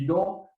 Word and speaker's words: EGLE: So the State of Michigan--the agency that does environmental permitting is called the EGLE .